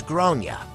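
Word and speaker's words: Gráinne: realized that the kid is called grain generally pronounced as gronia all thereabouts I tried to be very tful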